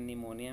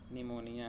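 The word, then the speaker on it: pneumonia: word कौन-कौन से देखिए निमोनिया में पी साइलेंट है पाम में पी साइलेंट है साइकोलॉजी में पी साइलेंट है इन तीनों को आपको अच्छे से याद करना ठीक निमोनिया है शाम है और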